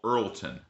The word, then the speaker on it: Earleton: Place called Earlton, spelled with an extra E. E A R L E T O N.